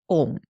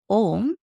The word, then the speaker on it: Aum: When we recite it as Om, it becomes a monosyllable. When we recite it as Aum, it becomes a diphthong. So there, A and U, both are pretty easily discernible to the hearing.